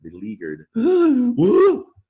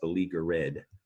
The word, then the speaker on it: beleaguered: a bad situation you're beleaguered and it's not you don't hear the ed at the end it's not pronounced beleaguer red right it's almost like